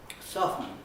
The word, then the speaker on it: soften: Soften is, you don't pronounce the T in that. The T has disappeared years ago.